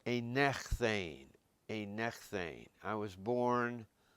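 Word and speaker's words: ἠνέχθην: This is very irregular, a little bit like what we had with the aorist active, and it's pronounced a nechthane, a nechthane.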